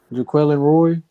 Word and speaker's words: Jaquelin Roy: Jaquelin Roy.